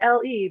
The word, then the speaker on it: L.E.: And so I was just like LE, but it always gets pronounced like Lay Photo Design.